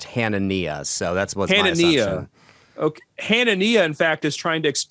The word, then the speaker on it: Hanania: hanania I always uh I had a friend with the same last name and it was pronounced hanania so that's what Hannah